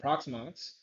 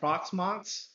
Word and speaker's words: Proxmox: which is an open source proxmox i keep pronouncing that on proximox as well as hyper-v now for a home lab i'm just going to flat out say proxmox is fantastic you can do hyper converge storage